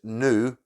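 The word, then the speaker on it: Noo: The guy, his name's Rick, he was only 28, this was in 1999, and his girlfriend's name, which is Nu, is spelled N-O-O.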